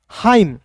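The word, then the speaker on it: hymn: आई एम का म हाईम एन यहां पे साइलेंट हो गया क्लियर जी दोस्त ऐसा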